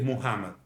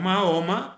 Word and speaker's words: Muhammad: El hombre es Muhammad, el profeta Muhammed. Sí. que llamamos Mahoma porque es una desnaturalización del nombre árabe que no es fácil para que todos lo pronuncien.